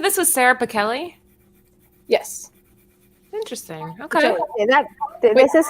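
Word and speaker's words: Pichelli: said this is sarah pikelli yes interesting okay this is her her it's the kelly especially remember we covered her woman and she like corrected somebody on an interview it's pronounced like a k kelly this is her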